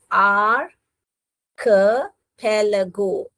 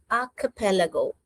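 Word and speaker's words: archipelago: आर कैलगो ये सी एच जो है क का साउंड करता है। ओके च का नहीं करता है। आंख पैलगो कैसे पढ़ने का बेटा? आंख पैलगो।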